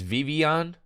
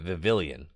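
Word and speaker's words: Vivillon: you say this it's Vivion the Double L is a yell sound all right Vivian Vivian like Vivian man I was sounding crazy calling it vavilion Vivian all right yeah man I've been mispronouncing this it's well it's definitely not vavilion which is what I think which is it's definitely not the villian all right we're gonna call it Vivion all right Vivion this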